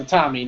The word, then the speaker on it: Itami: First of all, it's Itami, not Itawa.